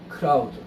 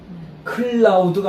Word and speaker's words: crowd: 크라우드. 클라우드가 아니라 크라우드예요. L이 아니에요. R이 R.